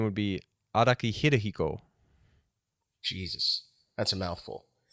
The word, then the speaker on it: Araki: you pronounce it in the west i guess a rocky how do you pronounce it in the east uh i mean his full name would be araki hirohiko jesus that's a mouthful um okay araki